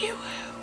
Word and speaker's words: Yoo-hoo: It's pronounced Yoo-hoo.